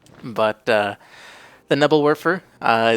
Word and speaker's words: Nebelwerfer: vermo side another unit is the nebble warer or Neal verer if you prefer the more German pronunciation although I'm not going to say I'm pronouncing it like a German not even close I'm sure but uh the nibble